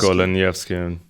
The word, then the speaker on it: Goleniewski: He was a Polish colonel general named Michael Golanowski. Goleniewski. Yeah, and Golanowski. Is that how you pronounce it in Polish? I think it's Goleniewski, but I'm not 100% Golanowski.